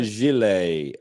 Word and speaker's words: gilet: This is a Gillette. It's a gilet, and it's spelled.